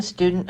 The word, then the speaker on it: student: La T desaparece. Esa T que nosotros normalmente, si nosotros fuéramos a decirlo, nosotros lo diríamos I'm a student of English, I'm a student of English. Desaparece. ¿Sí ven?